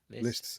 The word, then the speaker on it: Liszt: a bit Brahms and Liszt. Is that pronounced right, that Liszt? Lists rhymes with pissed.